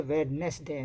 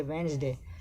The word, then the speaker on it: Wednesday: Wednesday, we don't pronounce D. We don't say Wednesday, we say Wednesday.